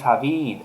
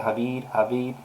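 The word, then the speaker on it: Hvid: Egyptian authorities are investigating the photo posted by a Danish photographer, Andres Havid. I guess that's how you say it, Havid, H-V-I-D, I'm not sure.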